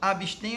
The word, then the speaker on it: abstém: Sim, abstém é uma palavra oxítona, terminada em "em", por